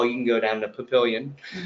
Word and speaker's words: Papillion: can go down to Papillion which by the way the first time I pronounced it was patio because I thought it was French in somehow I pronounced